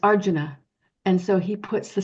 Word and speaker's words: Arjuna: have those sounds and so we might say Arjuna but it's Arjuna and so he puts the syllable on the correct um syllable and you